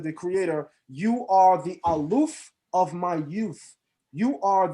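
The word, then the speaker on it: אלוף: Then when you go into the book of Genesis 36, which describes the Edomite chiefs, the word used for chief is aluf, or alufim in the plural, but aluf in the singular.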